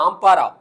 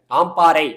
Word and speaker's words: ஆம்பாறை: இலங்கையில கிழக்கு மாகாணத்தில் இருக்கக்கூடிய ஆம்பாரா ஆம்பாராங்கிற ஒரு பகுதி இருக்கு அங்க ஆம்பாறை அப்படின்னு சொல்லுவாங்க ஆம்பாரான்னு நான் சொல்றேன் ஆம்பாறை தமிழ்ல அங்க இருந்து ஆரம்பிச்சு இலங்கையுடைய